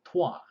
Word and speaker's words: toi: then it so happen the toy has a French pronunciation called TWA which means you so we're want to